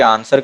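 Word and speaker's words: answer: यहां पर सिडब्ल्यू है आंसर में जो डब्लू होता यह साइलेंट होता है कि आंसर का जो प्रदोष नहीं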